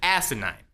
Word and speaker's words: asinine: that's right I said asinine with an emphasis on the first syllable it seems absolutely ridiculous